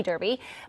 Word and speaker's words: derby: Many of you watching are already familiar with the term derby, which is spelled like Derby, as in Kentucky Derby, but it's pronounced Derby.